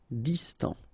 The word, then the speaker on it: Distant: Final T not pronounced. Distant.